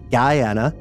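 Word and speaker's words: Guyana: way only helps give Credence to Venezuela's claims Guana is pronounced like d Ana ASO is pronounced with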